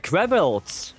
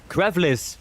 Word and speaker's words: Crais: Uh, Kare. No, Crais.